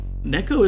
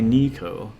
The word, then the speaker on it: Neko: Because Neko is one of those names where it's about a 50-50 shot whether someone pronounces it right or not. It's a bit loud. And you know, it's not a name like Mzizi where you look at it and go, okay, please tell me how to pronounce this. Some people just take a shot at it and they say Nico, and it doesn't irk